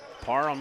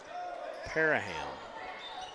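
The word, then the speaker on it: Parham: Jess ville's got it parm in there as well number 13 seen parm have some big moments I think it's actually pronounced paraham think I got a clarification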